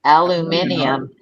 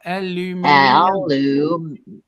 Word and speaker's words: aluminium: m i n there's you're adding an extra syllable. Aluminium. No, we're not. There's an extra. You're putting an extra vowel in there. And there's We're just pronouncing the letters as they are.